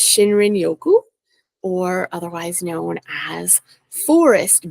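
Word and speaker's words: shinrin-yoku: it so that I don't mess up the pronunciation but it's shinrin Yoku or otherwise known as Forest bathing which encapsulates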